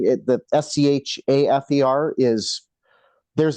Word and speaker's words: Schafer: How do you pronounce your surname also? So Matthew Schafer. So it's Schafer.